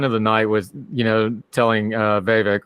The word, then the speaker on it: Vivek: She had the line of the night with, telling Vivek, rhymes with snake, rhymes with fake, that every time he talks, she feels dumber, which was probably the best line of the night.